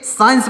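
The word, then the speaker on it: science: यहां पर लिखा गया एस सी आई ई एन सी ई तो इसको क्या पढ़ेंगे साइंस पढ़ेंगे लेकिन यहां पर जो सी है यह साइलेंट है इसको क्या पढ़ेंगे सीन पढ़ेंगे तो यहां पर सी साइलेंट है तो हर जो शब्द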